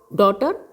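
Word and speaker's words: daughter: में गा साइलेंट है डॉटर जी ह साइलेंट फाइट स्ट्रेट जी ह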